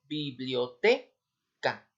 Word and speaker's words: biblioteca: solo se pronuncia Sí tal es el caso de la palabra biblioteca sí en este caso la sílaba en este caso tónica está en la en la sílaba t biblioteca Sí entonces dicho de